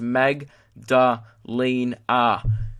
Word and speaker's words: Magdalena: also for future reference it's pronounced Meg da lien ah because I'm an idiot